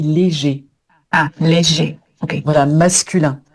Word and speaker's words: léger: Donc pour la prononciation, j'ai le sommeil léger.